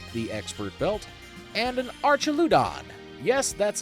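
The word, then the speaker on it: Archaludon: Uh, the last two up are a Kindra holding the expert belt and an Archeludon.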